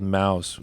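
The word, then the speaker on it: Maus: There's a comic book called Mouse, which is about mice in the Holocaust, but it's spelled M-A-U-S.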